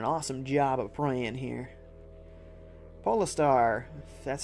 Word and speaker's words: Poo: is doing an awesome job of praying here poar that's how you say it the cat's going